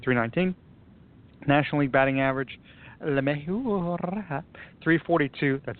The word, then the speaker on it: LeMahieu: National League batting average, LeMahieu, 342.